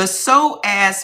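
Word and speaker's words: psoas: The soaz muscle specifically is called the muscle of the soul. It connects your spine to your legs and contracts involuntarily under threats. Chronic threat equals chronically tight so it's spelled P S O A S.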